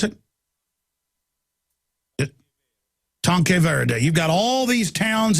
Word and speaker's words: Tanque Verde: You got, how do you pronounce that? Tanquay, Verde, and all the, how do you pronounce it? Tanque Verde.